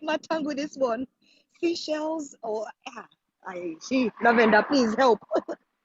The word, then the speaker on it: Seychelles: tongue with this one seashells lavender please help i believe that's the right pronunciation for seashells that's good you know